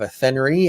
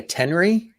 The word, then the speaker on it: Athenry: How do you say do you lose the H? Do you say Athenry? Athenry. Oh, Athenry. There you go. Athenry. Yeah, you see, we've got things messed up here. Yeah, but in a way, you're kind of going at Henry. You're right. Athenry is how we would say it here. There should be another E then after the Y for RYE, like rye bread.